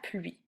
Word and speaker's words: pluie: Finalement, la pluie. Eh bien, ça, la pluie, t'as vu, ce mot-là aussi a une lettre muette, le E qu'on prononce pas.